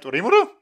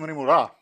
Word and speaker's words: Rimuru: Wait, Rimuru? I kept calling him Rimura.